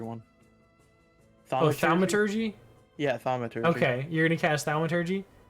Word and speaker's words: thaumaturgy: Spell it for me. The thaumaturgy one. Oh, thaumaturgy? Yeah, thaumaturgy.